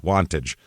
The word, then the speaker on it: Wantage: Jersey to be exact w n t a g Wantage okay that's how they say it uh it's in northern